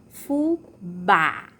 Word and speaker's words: fubá: Então, vamos iniciar aqui com a palavra fubá. Fubá, a sílaba tônica é o bá. E o som é aberto.